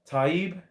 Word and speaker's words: Taib: Taib Hussein says, Curtis, you pronounced my name wrong after pronouncing it correctly. Oh, dear. Sorry, mate. Taib.